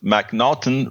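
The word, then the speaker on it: M'Naghten: should be familiar with the MC the mnon pronounced mnon rule which states that an individual suffers from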